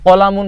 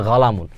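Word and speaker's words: قلم: মানে কি গাহ মানে কফি আমরা জানি কি কলামুন শব্দের অর্থ কলম কলামুন কলামুন শব্দের অর্থ কি কলম কিন্তু এটাকে বলে গালামুন এই যে কফ কফের উচ্চারণ গাইনের মত হয়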